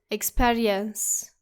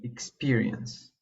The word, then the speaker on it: experience: We can also see this error in words like experience. Do not say it like experience. It should actually be experience.